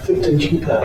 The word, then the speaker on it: Thupten Jinpa: And I might need your help pronouncing this, Robert. Is it Dr. Thupten Jinpa? Thupten Jinpa, yes.